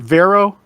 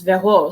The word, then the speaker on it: Vero: But then I spent a lot of time abroad, and in Spanish, it would be pronounced Vero, and in French, it's Vero.